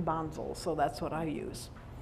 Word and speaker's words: Bonzel: across the road as across the campus as bonzal Hall but the Germans prefer the pronunciation Bonzo so that's what I use and I continue